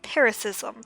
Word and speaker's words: paroxysm: a peroxism of weeping i don't know how to pronounce that paris-ism according to google it's paris-ism okay from that strange